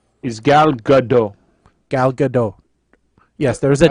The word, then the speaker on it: Gal Gadot: i know i think i believe i'm remembering gal is the right correct pronunciation because i heard ryan say it in a press conference so i'm going to i'm going to go with what ryan reynolds says is gal gadot gal